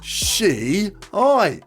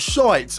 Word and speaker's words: Shiites: Spell it like this. She-ites. Not shites with 2 eyes. She-ites. Because that way it reads Shiites, not shites, and it would have